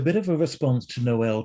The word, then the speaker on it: Noel: dramatic noel till and a lot of people don't know how to pronounce his name and he would it would drive him crazy if people called him knoll and he'd say noel and then i've heard people call him tile and you know